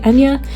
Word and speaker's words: Enya: By the way, Enya is another Irish name, so that's why it's pronounced not like it looks.